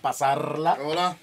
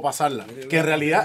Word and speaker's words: pasarla: Il faut prononcer le R sans le faire trop rouler. Parce qu'on peut dire "Pasarrrrrrla", comme on le dit là, ou "Pasarla", comme le disent les Cubains.